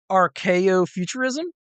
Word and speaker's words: Archeofuturism: The next one I have in here is I don't Okay, I may not pronounce this correctly. Archo futurism.